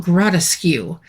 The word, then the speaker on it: Grotteskew: Now, in my brain, I was spelling it like the word grotesque. I was thinking, okay, that's just a different way to pronounce grotesque. But no, it's Castle Gratcu.